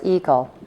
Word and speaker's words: Eagle: director of the firm Laura's Eagle pronounced like the bird the paperwork was emailed